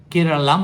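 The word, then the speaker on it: Keralam: কোন তর্কের অবকাশ নেই যে রাজ্যটাকে আমরা এতদিন কেরালা বলে জানতাম এবার থেকে তাকে কেরালাম বলে উচ্চারণ করতে হবে এতে যে কোন মালায়ালী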